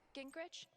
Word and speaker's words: Gingrich: Gingrich?